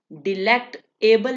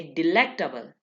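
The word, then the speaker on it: delectable: जिस वर्ड में एबल आ जाए, एबल, हमने वहां पे इसको डिलेक्ट एबल नहीं कहना, हमने इसको प्रोनाउंस यहाँ पे एबल को अबल पढ़ना है, अबल। ठीक है, ये देखिए डिलेक्टेबल, डिलेक्टेबल। हमने डिलेक्ट एबल नहीं कहेंगे, डिलेक्ट एबल नहीं, इसको प्रोनाउंस करेंगे डिलेक्टेबल।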